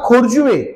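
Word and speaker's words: Corjuem: झालेली आहे सगळी त्यामुळे तुम्ही बोलता खोरजुवे पण उच्चार तुम्ही स्पेलिंग जर तुम्ही गुगल वर टाईप करायला गेला तर काहीतरी भलतच येईल कारण सी पासून खोरजीवेची स्पेलिंग चालू होते शापोरा हे नाव आहे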